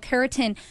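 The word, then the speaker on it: carotene: there's a thing called keratin and it sounds like keratin like the fingernail thing but it's spelled differently and it is within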